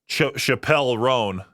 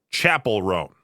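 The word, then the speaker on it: Chappell Roan: It wasn't until recently someone said, hey, it's not Chappelle Roan, it's Chapel Roan.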